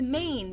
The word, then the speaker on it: Maine: something but it's not it's main the letters that you think of are ma a and MN and not me it's a silent E who the heck abbreviate